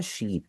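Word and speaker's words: 四: वो ये है कि फोर को जो हम कहते हैं ना शी, शी का असल में जापानीज में मतलब होता है डेथ, मौत। इसी तरह जो नाइन है, नाइन को हमने जापानीज में खू और क्यू दोनों बोला था। खू का मतलब होता है सफरिंग, यानी अजियत में होना। तो इसीलिए कुछ लोग प्रेफर करते हैं कि वो मौत और अजियत जो इनसे रिलेटेड वर्ड्स हैं उनको ना इस्तेमाल करें। वो इस्तेमाल कर लेंगे योन को, और क्यू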